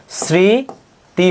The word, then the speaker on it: স্মৃতি: আর স্মৃতি এটা দেখো ছয়ের মতো উচ্চারিত হচ্ছে, সেক্ষেত্রে তোমার দন্তস্বয় বহাল থাকবে, স্মৃতি হবে।